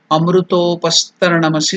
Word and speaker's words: Amrutopastaranamasi: Amruto, O is elongated. Dirga. Amrutopastarana. That Ana is not Na. It is Ana. Murdhanya. Touching that. So that N, under the N dot is there. Indicating Murdhanya. The tongue should touch the top of the mouth.